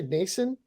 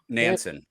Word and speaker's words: Nansen: So there are some Sarkisian and, did you say Nason? Is that how you pronounce it? The new Nansen.